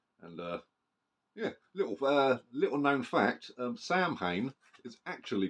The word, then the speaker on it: Samhain: And yeah, little known fact: Samhain is actually pronounced Samhain.